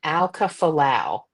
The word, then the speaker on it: Aukafolau: But it's you were saying Carolyn Alkafulau.